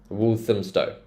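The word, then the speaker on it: Walthamstow: so look at this so if it's got ham in it do you remember how we said we pronounce it as um so wum wolam Stow wolam Stow Queen's Road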